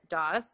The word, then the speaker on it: Doss: uh yeah i saw someone say can you pronounce both of your names um i'm i'm daws and that's uh brett tucker and i'm gonna